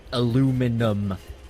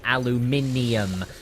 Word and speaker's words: aluminium: spelled as it sounds it's spelled aluminum but it's how it spell over here and said is aluminium so I don't know why they just got rid of it in America and the both ways are technically accurate but I still don't